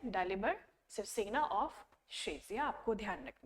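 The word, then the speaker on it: Svrčina: दालिबर शिवसेना, इसकी spelling SVRCINA है, बट हम इसको बोलते हैं डालिबर शिवसेना ऑफ शेजिया won the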